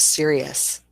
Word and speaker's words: serious: And then we have serious. And this one tricks people, students, when they're trying to say the words and identify them themselves, that OU is actually this little in the end.